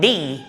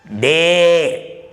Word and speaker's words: day: about the day what d is today please note my pronunciation they is wrong d is correct what they is today